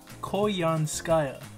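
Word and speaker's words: Koyanskaya: end the video so go ahead tell the people how to say her name young sky got up to the mic and say call you on skyer you said it say it to the koyan skyer all right that's how you say your name apologies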